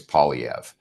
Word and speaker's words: Poilievre: The simplest way for an Anglophone to say it is Poilievre, but it has been said many different ways.